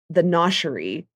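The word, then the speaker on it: Gnoshery: It's like a tourist place, but they have a place called the Noshery, I think, but it's spelled like with like G-O. And because it's G-N-O-S-H.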